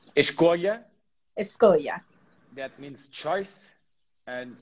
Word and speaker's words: Escolha: So I'm going to let you pronounce this one and introduce it for us. It's Escolha, Escolha.